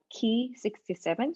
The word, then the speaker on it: Ki-67: i would say there is a marker called key 67 so it's spelled ki-67 so it's one of the proteins